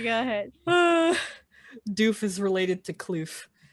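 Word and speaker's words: Duef: doof warrior have some respect say go ahead doof is related to cliff it's it's pronounced uh or rather it's spelled d-u-e-f and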